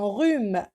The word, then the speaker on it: rhume: Un rhume, j'ai pas prononcé le H.